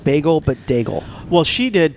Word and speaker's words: Daigle: I put an N in the end of it, and I don't know why. It's Lauren Daigle? Lauren Daigle. Dingle. Yeah, Lauren Dingle? Daigle.